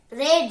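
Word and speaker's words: read: v13 तीनों का spelling same रहता है लेकिन उच्चारण ल होता है तो य बोलेंगे आई शुड हैव क्या बोलेंगे ट रेड रेड रेड बोलेंगे आई शड हैव रेड मुझे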